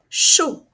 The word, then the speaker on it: chaud: à gauche sauter SAU vous avez le son o en fin de mot chaud attention je ne prononce pas le D chaud et vous avez